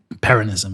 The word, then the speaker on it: Peronism: So the big change came with Perón and, how do you pronounce it? Peronism? Peronism, yeah.